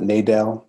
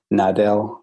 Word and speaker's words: Nadel: So I pronounce it Nadel, but I will definitely refer to a lot of things. I believe my grandmother used to say Nadel, because I think she's from Alabama or Tennessee or something. She had a little twang on it.